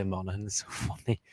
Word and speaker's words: Monaghan: Monaghan. How do you say it? Monaghan. Monaghan. Monaghan. You said like in at the end, not Or so what else? You said like in, like it's spelled.